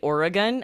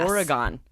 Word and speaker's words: Oregon: Some people say Oregon and some people say Yes. Oregon. Yes. I don't know right. which people from Oregon. I say Oregon, but I'm not sure how they prefer.